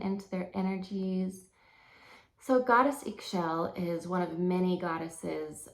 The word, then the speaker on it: Ix Chel: the goddess of creation and childbirth gestation it's pronounced ink shell and she's a Mayan goddess of the moon